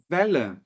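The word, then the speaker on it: Welle: a palavra onda Vel perceba que ali eu coloquei dois L Qual é a diferença da pronúncia nenhuma basicamente esses dois L aqui servem para que eu encurte o valor da vogal que o antecede então no alemão Eu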